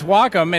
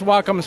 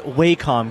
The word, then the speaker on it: Wacom: humans and Technology that's wacom's Mantra it's not waycom guys it's Wacom well one name that